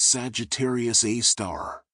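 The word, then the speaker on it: Sagittarius A*: super massive black hole known as Sagittarius Asterisk, pronounced Sagittarius A star.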